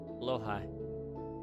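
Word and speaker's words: Blåhaj: Blow high? Blow? Really? Is that how you pronounce that? Huh. Yeah. Oh. Blow high.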